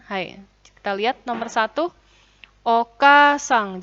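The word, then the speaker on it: おかあさん: kita lihat nomor satu Oka sang jadi pengucapan itu harus sesuai dengan tulisannya ya kalau double vokal maka pengucapannya juga panjang Oke sang Jadi tidak boleh Oka sang tidak boleh harus Oka sang penulisannya vokal ada hurufnya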